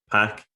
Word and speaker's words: Pak: name is Patrick but everybody calls me pack including my Greek friends and that's been my